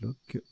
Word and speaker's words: loch: Lock, ça se prononce lock.